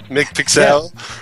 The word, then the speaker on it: McPixel: is this is that the french version austin mick pixel that's what it's yeah that's that's how it's supposed to be pronounced seriously it's weird i know oh dear